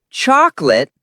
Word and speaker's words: chocolate: Wrong isolate. Correct. Is chocolate or chocolate. Example, Jack. I love chocolate ice cream. Two syllables, not three.